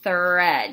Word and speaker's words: thread: bit when you say it it's not an F okay it's not spread its thread you have to stick your tongue out a little bit don't make an F sound for it also spring